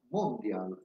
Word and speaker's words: Mondial: In via Torino, passo dal Duomo, c'era il Cinema Mondial, o Mondiale, però a Milano si dice sempre con l'accento sulla prima sigla, il Mondia, che poi è diventato